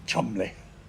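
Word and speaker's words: Cholmondeley: what about people's names how did cholbondale become Chumley or Featherstone Hall become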